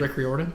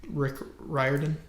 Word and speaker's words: Rick Riordan: Rick Riordan? Him. This is not how you say his name. I'm so sorry to interrupt, but that was wrong. That know about... Rick Riordan? There you go.